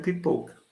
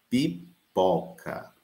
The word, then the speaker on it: pipoca: Mas, por exemplo, a transcrição fonética faz com que eu pronuncie tal qual está. Então, aí você tem, ó, pipoca. Mas não é a minha pronúncia. Mas é uma pronúncia lá no Rio Grande do Sul. Eu quero pipoca. A gente não diz com o fechado. Na nossa ortoépia, nós dizemos pipoca.